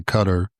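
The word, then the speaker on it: Qatar: And I'll probably just stay with the anglicized version and say cutter instead of trying to say the Arabic Arabic version.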